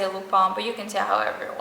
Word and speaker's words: Lupin: show then we have lupa or lupin whatever you want to pronounce it it's french so i say lupone but you can tell